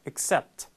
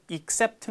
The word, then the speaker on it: accept: 그런 말음 나온다는 거죠 그래서 이게가 아니라 그냥 accept accept 이렇게 돼요 너무 강하게 또이라고 해서 except 아니에요음 그러니까 제외하다 전치사 except 하고 발음이 동일해요 그냥 예 그것도 except 이것도 그냥